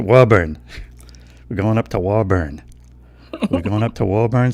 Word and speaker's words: Woburn: Woburn well so so if you sign it like a newscaster it's like yeah it's here we go it's it's Woburn but if you're saying it like we do around here it's a Woburn we're going up to